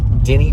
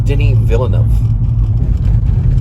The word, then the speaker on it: Denis Villeneuve: It's Denis Villeneuve. Denis Villeneuve. And you don't pronounce the S. It's Denis. It's a French thing.